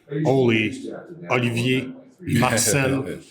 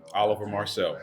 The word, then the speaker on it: Oliver Marcelle: How do you say your name? Oliver Marcelle, but I like that better. Yeah, because it's French, right?